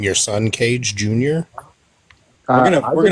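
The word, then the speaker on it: Kayj: Cage's real name is Cage. Keys? No, Cage. That's my actual name. Seriously? Yes, seriously. It's not His spelled actual K-A-Y-J.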